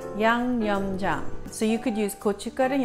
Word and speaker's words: 양념장: And I'm going to phonetically teach you how to say YangYeomJang. Yang, Y-A-N-G, Yang, Yum, Y-E-O-M, Jang, J-A-N-G, Jang. YangYeomJang.